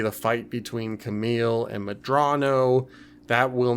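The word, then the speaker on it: Medrano: It's General Madras. Madrano? Madrano, thank you.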